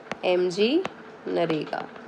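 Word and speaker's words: MGNREGA: इसको शॉर्ट में हम कहते हैं MG नरेगा, ठीक है. कब आई, 2005 में, ठीक है. नरेगा के अंदर क्या हुआ, एम इसको साइलेंट मानते हैं हम जनरली.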